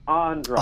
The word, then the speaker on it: Andras: Oh, you got the second syllable right. It's actually Andras.